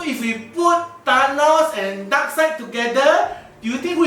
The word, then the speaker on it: Darkseid: Dark Sheep? It's pronounced as Darkseid. Oh, not Dark Sheep, Darkseid, remember?